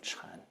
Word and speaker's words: Chan: Chinese word for Zen Zen is the Japanese pronunciation of Chan okay so he saw